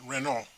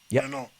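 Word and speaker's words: Renaud: I would, by the way, that chap you mentioned, Renault. Reno. This catches out a lot of people.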